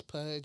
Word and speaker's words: Pudge: So it's like fudge, but with a P.